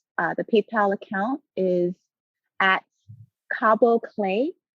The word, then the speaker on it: Kaabo: The PayPal account is at Cabo Clay, and Cabo is spelled Kaabo and then CLAY, and that's a PayPal account that you can just um, donate directly to.